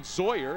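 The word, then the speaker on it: Zaayer: Eli Williams, Dustin Zoyer is how that's pronounced, Z-A-A-Y-E-R.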